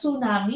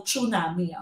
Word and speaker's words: tsunami: You pronounce that as tsunami, hindi po tsunami.